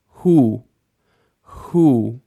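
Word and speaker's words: הוא: means or either or who who we do have a silent Al if at the end of the word here who who means he as in he is my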